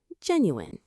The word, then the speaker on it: genuine: is our seventh word, genuine. Let's get the pronunciation right. Jen, u it has three syllables. Jen, u the stress is right at the start.